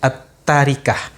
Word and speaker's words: التركة: ditinggalkan oleh si mayat at-thariqah membacanya bukan trik Ah tapi at-thariqah peninggalan si mayat berupa